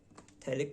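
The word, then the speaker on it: phthalic: थैलिक में P silent रहता है। पी थैलिक acid. ठीक है? क्यों साइलेंट रहता है हमें नहीं पता।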